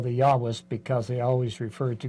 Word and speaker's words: Yahweh: and I said well Jehovah is the pronounciation based upon I think early German scholarship that is later found to be improved if you move to Yahweh and they started to